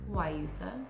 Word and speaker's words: Guayusa: This is called Guayusa, spelled like Guayusa, but it's pronounced Guayusa.